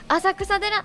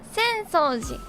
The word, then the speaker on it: 浅草寺: Vivi yang ngomong "Asakusa-dera" malu banget dia sadar nggak ya? "Watame-senpai Asakusa-dera yuk ke Asakusa-dera?" kayaknya dia bilang gitu deh Senso-ji… dia ngomongnya "Asakusa-dera" Emang bisa kebaca gitu kan!